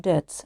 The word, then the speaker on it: debts: Pay off debts means to finish paying money owed for something. Debts, we shouldn't pronounce B here.